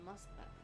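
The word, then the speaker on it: Москва: Moskva? Is that how you say it? I'm really bad at this shit, so please forgive me. That's how you say it in Russian, Moskva.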